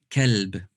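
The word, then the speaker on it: كلب: The first one is kalb, ka. The second one is qalb. So I'm going to just say the first letters, ka, qa. Notice the difference, ka, qa. The second one is full mouth, okay?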